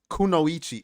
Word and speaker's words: kunoichi: make this uh nightmare says it's pronounced kunoichi oh I've heard that before I've heard that in anime actually so I don't know why I I couldn't get that right kunoichi kunoichi I need to